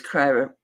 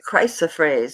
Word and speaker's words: chrysoprase: Plus the fact that they use chiropraise. I can never say that. Because it's the sawtooth, it's everything about it, the quality of it. So it's that chrysoprase. That's it. I said it right.